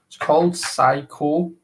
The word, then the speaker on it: Saikou: But yeah, this is the company that made this t-shirt is called Saiko, but it's spelled, I think it's spelled Saikou.